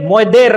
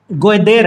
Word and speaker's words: गोयदेर: हाँ, तो ये मोयदेर नाम का जलप्रपात है। मैं अभी भी प्रोनाउंसिएशन गलत कर रहा हूं, एक्चुअली ये गोयदेर है।